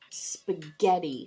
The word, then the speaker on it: spaghetti: It's not even making the long sound. I, like a vowel can make the long sound. It says its name. I. It's making an even different sound. And we've learned this before in phonics. It can sometimes sound like E. So we have sp. G, et, E. Spaghetti.